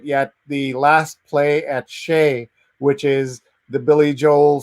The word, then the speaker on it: Shea: fan you must check out lastplay at shea shea is the pronunciation and vandana says you played for belie